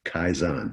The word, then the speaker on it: kaizen: a lot in the auto industry, which is kaizen. At least that's the way I heard it pronounced.